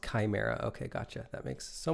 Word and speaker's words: chimera: Pronounced chimera.